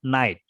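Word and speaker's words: knight: you know about tadikapuri Jadi huruf k-nya enggak dibaca ya Iya jadi begini teman-teman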